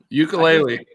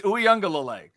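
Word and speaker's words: Uiagalelei: Pronounce his name right now. Ukulele. I just did. It's Uyunglele.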